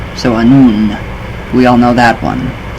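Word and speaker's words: Annwn: In Irish, it was also known as Aes-Side, and in Welsh folklore, Anfuin or Anwin, pronounced Anun. So Anun, we all know that one.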